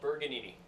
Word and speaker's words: Bergagnini: No, it's called Bergagnini.